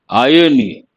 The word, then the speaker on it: irony: Irony. R is silent, but we say irony.